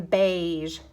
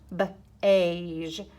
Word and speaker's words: beige: gets kind of funny an e AI makes an a sound like in beige beige isn't that funny um freight and aigh